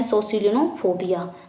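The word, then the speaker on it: scolionophobia: Fear of school उसे क्या बोलते हैं, उसे बोलते हैं सोसिलिनोफोबिया। देख लेते हैं यहीं पे हम, यही हमारा गलत है, तो यहाँ पे स्पेलिंग देख लेते हैं क्या हो जाएगा, SCOLINO फोबिया, ठीक है, सोसिलिनोफोबिया इसे ही बोलते हैं।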